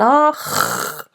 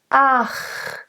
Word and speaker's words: ach: It's not ach. It has an underlying vowel, and it's really important to be aware that every consonant has an underlying vowel. So you can either go or right? It sounds very different. So ach, it's very much in the shape of the preceding a, which is a nice open bright a.